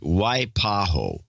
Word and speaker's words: Waipahu: with my towns name pronounce it Waipahu Waipahu Waipahu Waipahu and PHA who wipe wipe a who why why because I